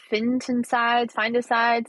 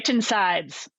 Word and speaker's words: phytoncides: Finticides? Say it for me. Phytoncides.